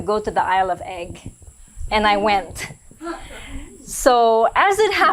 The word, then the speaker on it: Eigg: the Isle of Egg, is that how you say it, Egg? The Isle of Egg? Egg, yes. EIGG, where it used to